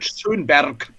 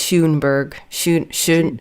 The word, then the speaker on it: Schönberg: wanted to ask you, could you pronounce the name of Schönberg the way that a German would? Yes. Arnold Schönberg. Yeah, there we go. Yeah, that's it. Yeah, it's funny when Americans say it, it's Schoenberg, or Schoenberg, yeah, something like this.